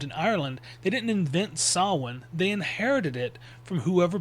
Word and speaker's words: Samhain: It's not Sam Hayne or anything like that because the mh in sin in Irish Gaelic makes more of a w sound.